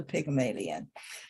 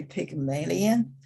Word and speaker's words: Pygmalion: And for this word, you can say Pygmalion or Pygmalion.